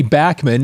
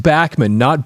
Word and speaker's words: Bachman: So over the weekend, uh on September 27th, Randy Bachman, and yes, it is pronounced Bachman, not Bachmann.